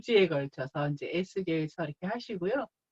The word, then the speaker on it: 에스겔: 에스겔, 우리 한국말로는 에스겔이고요. 영어 조금 발음으로 하자면 뭐 에제키엘 뭐 이렇게 말하기도 합니다.